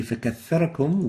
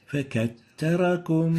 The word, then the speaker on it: فكثركم: And the mistake sounds like this. فكتركم فَكَتَّرَكُمْ. So we're having ta instead of the tha. And the right way of pronouncing it to correct the two mistakes is like this. فكثركم فَكَثَّرَكُمْ. You have to make sure to pronounce the tha from its right articulation point and avoid exchanging it with neither the sin and nor the ta.